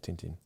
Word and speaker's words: Tintin: a big fan of Tintin. Yes. Well, Tantan, apparently in French it's Tantan.